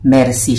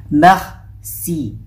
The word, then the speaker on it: merci: So, kung makikita nyo siya, mercy siya, di ba? Mercy. Mercy, sasabihin nila, mercy, para lang si Aling Mercy sa Pilipinas, no? Pero, ang basa sa kanya ay, merci. Merci, merci.